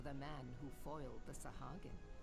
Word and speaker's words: Sahagin: A seat of honor at the celebratory feast is the least I can offer the man who foiled the Sahagin. Sahagin, that's how you pronounce it.